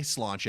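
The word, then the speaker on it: sláinte: I've been to Dublin before how to say cilantro and as it turned out the waiter was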